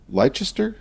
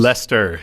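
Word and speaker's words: Leicester: from the University of Lchester. Is that how it's pronounced? Lester.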